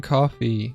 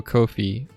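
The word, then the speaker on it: Ko-fi: below the guys from coffee say oh kofi say it's pronounced like no fee because they charge no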